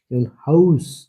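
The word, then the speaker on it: Haus: শব্দের শেষে এস থাকলে শব্দের শেষে এস থাকলে হাউস হাউস এসটা কি সবার শেষে আছে এজন্য সয় মত উচ্চারণ হয়।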